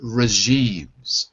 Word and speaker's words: regimes: Not J. Regimes. It's a soft G. Regimes. Regime. That's right. So be careful. Don't say it the way you would say the name John, for example, because it's not J. It's like measure.